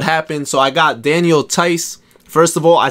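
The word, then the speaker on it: Theis: gonna explain what happened so i got daniel tice first of all i said his name like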